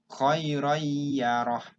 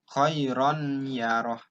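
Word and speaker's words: خَيْرًا يَرَهُ: Kalau orang yang nggak ngerti tajwid, pasti dibacanya khairon yaroh. Nah, karena kita harus belajar dan bisa, kalau orang yang paham, bacaannya N-nya dihilangkan, langsung ke ya.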